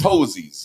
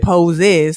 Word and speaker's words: posies: poses whatever that was posies yeah right but we said pose is to rhyme with roses yeah okay yeah so